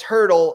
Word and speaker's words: Hurdle: Although his last name rhymes with turtle, Thomas Hurdle.